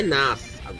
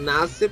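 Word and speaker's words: Nasr: ABC, você chega à conclusão que o Nas, porque o Theo explicou, a pronúncia dele é Nas. Fala Nasser por causa do público estrangeiro.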